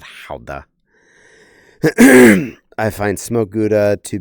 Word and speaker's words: Gouda: And yeah, I know how to pronounce Halda properly, too. My favorites are uh Gouda and aged Gouda. I know I'm saying it American, not Halda.